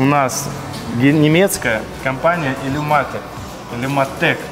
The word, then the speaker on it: Illumatec: Illumatec, правильно говорить.